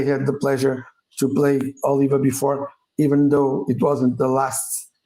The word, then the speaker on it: Oliva: So we'll have Oliva in, and I will repeat, Oliva is the right way to pronounce it. So Oliva. for those who don't know, and some people who are not Portuguese have been asking if it's Oliva, if it's Oliva, if it's whatever. It's Oliva.